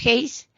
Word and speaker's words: Hayes: Hayes, se escribe Hayes pero se pronuncia Hayes, tenemos la pérdida del